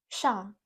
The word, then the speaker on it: 上: So the Chinese Mandarin pronunciation for this character is shang.